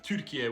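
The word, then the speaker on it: Türkiye: Turkiye is an anglicized pronunciation of Turkiye, which is what we call an endonym.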